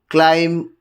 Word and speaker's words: climb: Whenever there is a combination of M and B at the end of a word, then B is not pronounced.